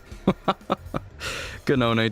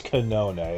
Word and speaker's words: Kanone: Ganone, don't be too hard on him. Oh, it's Kanone, okay. Another pronunciation I get wrong.